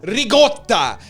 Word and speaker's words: ricotta: The way my Italian family says it is ricotta. That's how you say it.